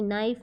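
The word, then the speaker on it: knife: silent words of के के से हमें फोर साइलेंट वर्ड्स लिखने हैं जैसे कि नाइफ नॉक नाइट नॉलेज ठीक है तो नाइफ हम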